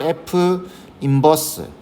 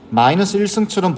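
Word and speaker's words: f⁻¹: 이걸 F 인버스, 마이너스 1승처럼 보이지만 마이너스 1승 아닙니다. 인버스라고 읽어주는 거예요.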